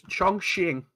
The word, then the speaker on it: Chongqing: It's Chongqing. I thought you pronounced it differently this time.